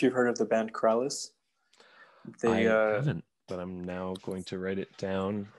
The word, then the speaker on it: Krallice: Krallice, like Alice, but with like two L's and a KR at the beginning.